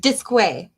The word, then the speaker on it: Disque: And I want you to say to the world how you pronounce your last name, Kari. How do you say your last name? Disque.